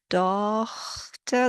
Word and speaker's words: Tochter: But if you were to pronounce the GH as a H, Tochter, there we are.